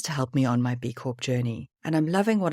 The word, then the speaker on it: B Corp: and just in theide I know lots of English people say B cor with a silent P but B Corp was started in the US where pronounce b Corp with a p and being South African